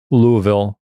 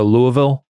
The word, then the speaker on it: Louisville: This was when we were in Louisville. Nice pronunciation. Is there? Because I think I usually go with a Louisville. Well, you Or you just go straight Louisville. Louisville.